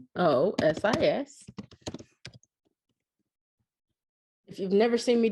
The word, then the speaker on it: onychomycosis: simplex 1, herpes simplex 2, herpes zoster, impetigo, omeocrimosis. I'm going to look that one up because that doesn't sound like I said it right. ONYCHOMYCOSIS.